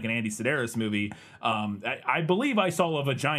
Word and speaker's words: Sidaris: Andy Sidaris. Sidaris.